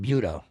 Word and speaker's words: buto: So, everyone start saying buto buto buto.